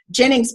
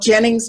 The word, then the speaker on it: Ginnings: and LinkedIn is Jennings but my name and it's spelled CH ER yl g like an old cotton gin GI n ni ng s and then if they'll